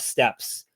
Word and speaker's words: Steppes: Son of Steps or Steeps. How do you say Steppes? It's steep. It's steep, which is it's a biome.